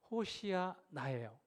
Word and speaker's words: 호산나: 호산나하는 외침은 히브리어인데 조금 정확하게 발음하면 호시아나예요.